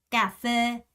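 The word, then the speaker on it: cà phê: 이렇게 넣고 베 베 가페 카페 카페입니다 쌍 기억이에요 절대 절대 헷갈리시면 안 됩니다 그리고 지금 보면 얘가 f 발음으로 소리가 나고 있다는 거 보이시죠 가페 이렇게 생각하시면 되겠습니다 첫 번째는 크가 아니라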